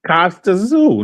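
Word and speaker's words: Kostya Tszyu: The guy's last name is spelled TSZYU. Yeah, that's Costa Zoo.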